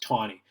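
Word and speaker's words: Taney: the left that guy's name is Roger Roger tawny you'll hear in the video they call it a knee it's spelled like Tandy but it's actually pronounced tawny he was the chief justice in the Supreme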